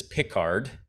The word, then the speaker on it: Pickard: on the podcast previously French researcher with the last name Picard and this is piard and so there's a there's a there's a big difference between those pronunciations so um is there